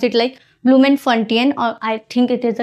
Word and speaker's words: Bloemfontein: I particularly pronounce it like ब्लूमेनफंटियन और I think it इज the correct pronunciation.